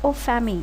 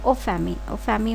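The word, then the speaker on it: en famille: இங்கே பாருங்கள், EN ஃபேமிலி அப்படிங்கிற ஒரு வேர்ட், ஆனால் அதை எப்படி ப்ரொனவுன்ஸ் பண்ணோன்னா ஓ ஃபேமி அப்படின்னு சொல்லணும்.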